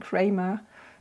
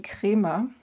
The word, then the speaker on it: Kremer: will actually work so I keep saying Kramer but the name is actually crima Crema pigmento that's the German pronunciation so before I paint